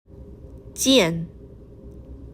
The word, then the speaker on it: 件: The pronunciation is a falling tone. Listen. 件件 Great.